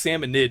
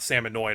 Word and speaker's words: Salmonid: Also, I just realized before the Splatoon fans get mad at me, I mispronounced Salmonid. It's Salmonid, not Salmonoid.